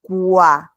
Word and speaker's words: quoi: y aquí he pronunciado quoi. Cada vez que tenemos la OI en francés, eso va a sonar como UA. Quoi, y esto es voir, ¿ok? La OI suena como UA.